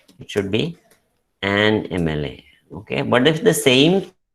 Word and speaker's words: MLA: The beginning sound is the vowel sound A, which is a vowel sound A, which before which we use an. Okay, so it should be AMLA or an MLA.